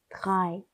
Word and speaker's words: drei: 그래서 AE는 아이 소리가 난다 라는 이 사실 꼭 기억해 주세요. 이건 어떻게 읽을까요? drei 라고 읽습니다. drei. 그 다음 숫자 4는 어떻게 읽을까요?